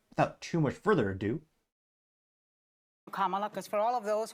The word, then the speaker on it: Kamala: it perhaps but without too much further ado comma because for all of those who are mispronouncing it I want you all to know